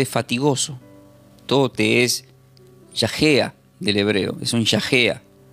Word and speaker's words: yagéa: Esta palabra fatigosa se pronuncia como yajea del hebreo.